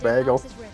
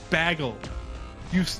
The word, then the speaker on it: bagel: That almost sounds like a New York accent, bagel. No, bagel. They say bagel. At least New Yorkers slightly elongate the A.